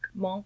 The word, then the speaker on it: Munch: Monk. Yes. Monk. I didn't know it was pronounced that way. We've all been pronouncing it wrong, America. Well, we were all like Edvard Munch.